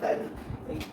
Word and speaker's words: chiral: कायरल। Spelling लिख दे रहे हैं CHIRAL, कायरल।